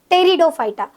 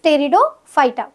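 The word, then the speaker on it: Pteridophyta: Third division होता है टेरिडोफाइटा। इसकी स्पेलिंग पी से स्टार्ट होती है बट प्रोनाउंसिएशन टी से रहेगा, दैट इज टेरिडोफाइटा। अब ये जो थैलोफाइटा है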